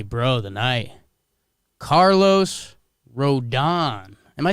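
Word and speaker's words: Rodón: Rodon. Rodent? I always said Rodon. Rodon. But I was listening yesterday. It's Don. Rodon. Yeah. The Don. I just checked the baseball reference pronunciation, and it is Rodon.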